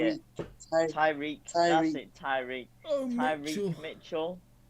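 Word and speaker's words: Tyrick: Tariq, I don't know how you say it. Tyreek, that's it, Tyreek.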